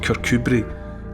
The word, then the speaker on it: Kirkcudbright: It's Kirkcudbright, but it's pronounced Kirkcudbright, and it basically means the Church of Cuthbert.